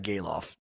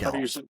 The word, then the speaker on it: Gelof: It's Geloff. Geloff. Sorry. My bad. What were you saying? Geloff? No, I was saying Zach Galoff instead of Geloff.